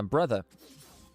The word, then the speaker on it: Breathe: Yeah, brother. That's how you pronounce it, actually. It's the Mandarin pronunciation of Breathe.